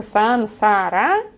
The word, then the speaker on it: сансара: вот вещи мая по говорит что сансара это правильное произношение все на этом заканчиваем